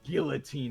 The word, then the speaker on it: guillotine: believe the French would pronounce it as guillotine. And if you don't want to end up inside one, you respect the French's pronunciation.